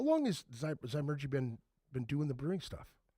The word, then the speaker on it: Zymurgy: Zymurgy.